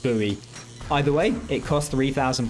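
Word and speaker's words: Bowie: the main Factory now I was calling this the Boe knife throughout playing but I've looked up online and I'm led to believe it's actually pronounced buoy either way it cost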